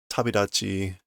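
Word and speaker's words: 旅立ち: Tabitachi no parado. No barado. Tabitachi no barado. The Ballad of Departure. Tabidachi. Beginning a trip. Normally Tabidachi is spelled with this character, meaning a trip or travel.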